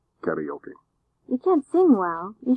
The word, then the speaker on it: karaoke: Sing karaoke. Karaoke or karaoke. That's how English speakers oftentimes say it. They say karaoke, which is really not a very good pronunciation of the machine and the activity.